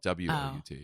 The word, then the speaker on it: Wout: Is that Okay. Vout? Well, they spell it W-O-U-T. but Wout. I like It's very Wout.